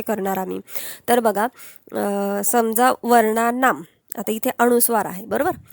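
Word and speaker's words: वर्णानाम्: का बर म्हटलो शेवटी कारण इथे आकारांत आहे बरोबर आकारांत आहे आणि याचा प्रोनन्सिएशन जास्त करून हलंत म असतो अर्धा म जो आहे ना हे बघा हा अर्धा म फक्त म आ नाही फक्त म लक्षात घ्या या मने त्याच प्रोनन्सिएशन केलं जातं म्हणून वर्णा ना आता आकारांत आहे म्हणून नाम आम अस एंडिंग करायचं आता इथे बघा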